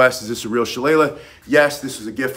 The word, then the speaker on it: Shillelagh: in County Wicklow, they have the town of Shillelagh where this is made. And so Shillelagh, and he, since he's Irish, he told me it's pronounced Shillelagh, not Shillelagh.